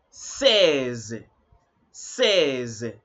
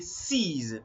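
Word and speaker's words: seize: David say all right so don't say sees mhm it is says say says he has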